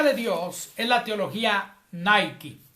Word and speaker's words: Nike: Ese nombre Nike está mal pronunciado porque es una palabra griega. No es japonesa ni finlandesa. Nike es la palabra griega Nike.